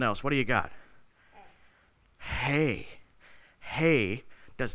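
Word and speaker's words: Hej: How do you spell it? H-E-J, is that what it was? Hey, hey, that sounds Swedish if you say it with a J at the end.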